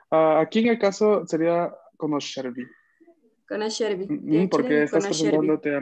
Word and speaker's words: conoscervi: Conoscervi. Conoscervi. El acento está en la segunda sílaba.